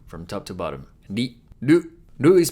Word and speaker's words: る: Lu is pronounced like a combination of ru in rule or root and lu in loop.